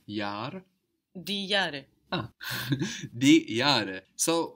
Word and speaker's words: Jahr: For example, the year is das Jahr, that's spelled J-A-H-R, and that H just stretches out that vowel, das Jahr.